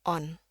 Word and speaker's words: on: Ya, kecuali di sini bunyinya itu lebih ke O. Ya, jadi kayak di bahasa Indonesia, on, on, on.